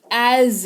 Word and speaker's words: as: हैं शब्द एज का देखो एस लगा हुआ है लेकिन यहां पर उच्चारण ज ऐसे करके हो बाहर पड़ेगा ना ज एज इसको पढ़ेंगे जैसा वह कहता है